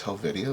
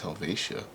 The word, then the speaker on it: Helvetia: that i used to i was pronouncing this hell video but i think it's helvetia anyways so priority mail this is embossed here i don't know what it says 25 jar 1945.